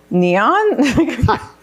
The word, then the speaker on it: Neoen: How do you pronounce it? Neon?